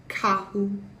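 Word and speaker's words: carro: to our discussion here, two R's together kind of make a sound like an H again. So like car would be kahu, kahu. But I mean, it's not real pronounced.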